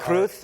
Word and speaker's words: Cruz: P you know uh kruth and it's not Cruz they pronounce it kruth castillan you speak Spanish